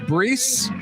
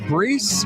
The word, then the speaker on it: Brees: kidding there's mr drew i think it's pronounced brees the card says breese nfl quarterback or something